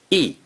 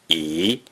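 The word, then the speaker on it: 一: From the previous lessons on numbers, you learned the number 1 has 3 pronunciations. E, E, and E.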